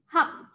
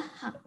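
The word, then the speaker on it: 학: Ini bacanya adalah hak. Bacanya adalah hak.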